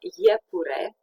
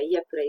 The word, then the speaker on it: iepure: And finally, we have the IE, the EE, Romanian EE, pronounced in the same syllable. I hesitated because we have the same group which is not pronounced in the same syllable, but we'll learn about it a bit later. So EE, ye, as in iepure, or miere, iepure is rabbit, and miere is honey. A bit like YE in the English yes.